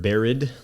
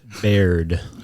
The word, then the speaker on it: Baird: you're looking at it it's phonetically correct just say it as it's supposed to be said beard beard have you have you